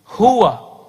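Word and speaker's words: هو: Hu, he. Cocok apa cocok logi? Tahu udah jawab sendiri deh ya. Hu, he. Huwa. Ya. Tapi dari dulu kita bacanya hu.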